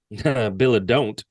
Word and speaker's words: Bilodeau: He would first claim that his name was actually Bilodeau, I think you pronounce it, before admitting to his real name. Billa don't. Exactly.